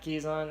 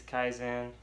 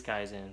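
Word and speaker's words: Kizan: before we go forward it's not keys on it is Kaizen I understand the most pronunciation nothing wrong with that you know we all pronounce things differently but it is guys in for for those of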